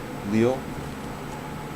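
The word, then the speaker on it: liù: goes down and up six is leo so it is l i u and it is the third the first tone mark over the u so it is wheel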